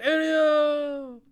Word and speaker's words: Elio: it's like Amo like Amo you just say Elio it says in the story 11-year-old dreo dreamer